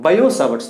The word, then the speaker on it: Biot-Savart: can observe bayout sabatsla but in this t is silent we have to read how to pronounce it as bio t cell bio savart's law this to this guys